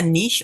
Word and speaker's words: niche: yeah find and find a niche or a niche depending how you say it just saying dogs